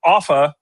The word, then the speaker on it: Offa: screen just to show off a little bit if you don't mind. But Offa, and thank you for pronouncing it correctly. Sometimes people say Ufa or Alpha or something, something crazy.